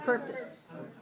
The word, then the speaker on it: purpose: reduced so we have the word purpose and the second syllable is very small right so when you say this word purpose purpose make the second syllable very small make sure your lips are relaxed purpose purpose good how